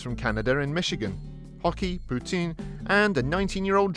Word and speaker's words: poutine: flavor maple mousse meat poutine ah the old canadian salad sure is something tasty to poutine your mouth for anyone who is unaware the french canadian pronunciation close to putin makes this joke work